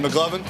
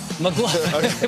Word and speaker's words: McGloin: You mean McGlovin? McGloin. Willie's going to have me saying his name wrong.